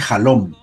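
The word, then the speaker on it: חלום: En hebreo la palabra sueño se dice halom.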